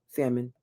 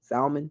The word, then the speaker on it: salmon: At one point in the show, he watched a bear catch a salmon. I always say that word wrong. Salmon, right? You don't pronounce the L. Salmon.